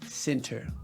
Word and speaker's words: Centre: Okay, I got Century. one. Okay, you pronounce it?